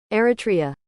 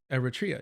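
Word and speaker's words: Eritrea: I always struggle with pronunciation. Like something about the way I say it just doesn't come out. Uh, Eratria. Eratria.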